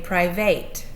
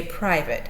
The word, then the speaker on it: private: e on the end it has the spelling pattern but it doesn't make a long a sound if it did follow the rules for a consonant knee we'd say private and we don't okay so we say private so it follows the